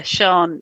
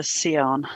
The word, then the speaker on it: Sian: group but um yeah Sean is the most common way of pronouncing but my mum decided to pronounce her seon yeah annoying do you